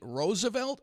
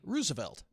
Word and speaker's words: Roosevelt: second question was okay it's been pronounced two ways is it Teddy Roosevelt or Teddy Rosevelt um very good uh you know it both are probably correct uh you know we we have uh several Roosevelts on our board and that's how they pronounce their name but uh uh but I think that you know there's many acceptance of that through time okay as you think